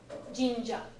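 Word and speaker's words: 神社: Like Or jinja? jinja. Sounds like a katakana version of ginger. That would be jinja. Oh, it's more elongated.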